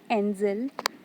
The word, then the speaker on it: angel: So the word angel can be divided into two syllables, an and zel. In an there is a vowel sound, and in zel there is also a vowel sound. So in angel there are two syllables. N is stressed and zel is unstressed.